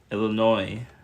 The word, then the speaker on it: Illinois: okay that's not Yi says Illinois Illinois silent s that's not going to